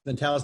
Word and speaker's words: mentalis: That's mentalis muscle.